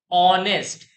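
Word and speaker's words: honest: हिसाब से चलेंगे तो इसको हमलोग प्रोनाउंस करते हैं ऑनेस्ट नेस्ट नहीं होता है ऑनेस्ट और ऑनेस्ट ऐसे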